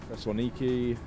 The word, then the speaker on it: Thessaloniki: Rhodes and Corfu, Thessaloniki, that's how you pronounce it. I know a lot of people say it very differently.